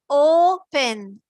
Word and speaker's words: open: In the word open, O, you hear the complete sound of O here. It's the long O sound. And here, we are not saying pen. We are saying pen, pen, pen, pen. We are just saying this quickly. Open. We are not saying pen. It's not open. It's O. This syllable is stressed.